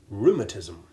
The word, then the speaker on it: rheumatism: alien to English and we simply treat the H as being virtually silent. Listen to the following examples. Rhythm, rheostat, rheumatism.